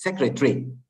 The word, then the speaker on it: secretary: not secretary teacher okay but remember that in English it's secretary three syllables huh that's why English